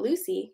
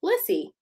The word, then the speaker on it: Lissy: your name it's because it's not lucy lissy you're gonna say lissy lissy says when my